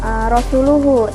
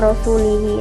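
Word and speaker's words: رَسُولُهُ: Di situ dimana saat itu para masyarakat itu membacanya bukan rasuluhu tapi wa rasulihi.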